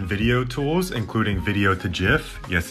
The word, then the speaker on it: GIF: of image and video tools including video to gif yes it's pronounced jiff and a bunch of pdf tools including one